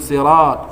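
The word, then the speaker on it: صِرَاط: “Sirat,” yang “ra” itu adalah thabi'i gila, dua harakat. Dia membacanya lima harakat seperti orang gila yang wajib muttasil, "siratol."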